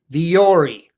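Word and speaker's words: Vuori: Viori clothing. Spelled V-U-O-R-I. Who knew? Viori is how it's pronounced.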